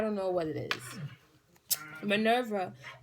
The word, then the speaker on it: Minerva: just getting I don't know what it is Minerva pronounce Minerva good thing I was pronouncing it right is